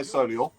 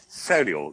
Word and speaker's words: Solihull: I don't even pronounce the H. I say Solihull. Solihull.